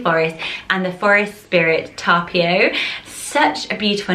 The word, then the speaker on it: Tapio: So in Finnish they pronounce it Tapio, Tapio, with the sort of strength on the P, but you could say Tapio.